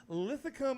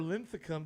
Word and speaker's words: Linthicum: In the studio with us tonight, we have an artist out of Lithicum or Linthicum, depending on how you like to pronounce it.